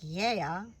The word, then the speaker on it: GAEA: It is called GAEA organic authentic Greek extravirgin olive oil. In Greek it would be more like ye-ah because the g is more like a y sound in Greek meaning earth or land.